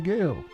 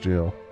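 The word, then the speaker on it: gaol: spend some time in the gale or jail. Really? Uh, that's that supposed to be pronounced jail.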